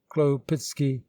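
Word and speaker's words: Chłopicki: tororisky pronounced sar torisky khloe picky khloe pitsky regarded with suspicion by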